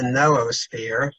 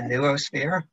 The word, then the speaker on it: noosphere: right I'm going to be talking about the noosphere that is what the dictionary s is the proper pronunciation I tend to call it the neosphere but um whatever you would like and I